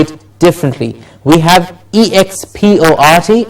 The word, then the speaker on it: export: I'll say the word as a noun. Export. Okay, export. And as a verb, how will we say it? How did we say? What do we do when we need to stress the syllable? Of course, with a little more effort, but what we can also do is elongate the vowel sound. Yes. So what we do is, it's export as the noun, and to export something.